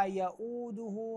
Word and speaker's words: يؤوده: ننتبه الى كلمه ولا يؤوده حفظهما ولا يؤوده الدال مضمومه وليس ولا يؤوده يؤوده غير صحيح كذلك حفظهما وليس حفظهما